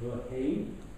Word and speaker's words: Verheyen: He told me to pronounce it Verheyen, because that's the accepted Dutch way.